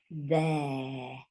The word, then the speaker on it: there: And this is there. So it sounds like air.